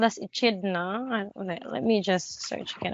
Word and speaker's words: echidna: The monotreme so here is called an echidna.